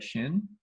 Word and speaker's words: Xin: you're the first syllable the Xin is we pronounce it pretty close to the way it is right shin yeah um so I just I prefer to go by shin because that's H the English tongue can mount it but it's actually